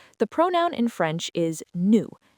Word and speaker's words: nous: Yes, for first person plural, we, the pronoun in French is nous, n o u s, as in nous mangeons des pommes, we are eating apples.